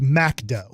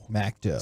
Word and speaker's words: McDo: in France it's not called McDonald's okay mcdo pronounced macdo macdo so when you saw that on there and